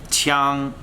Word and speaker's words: 枪: so let's try to pronounce spear in Mandarin let's repeat after me say Chung one more time say Chung so you can't say